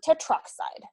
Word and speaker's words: tetroxide: Take out that extra vowel so it sounds nice and smooth. Tetroxide.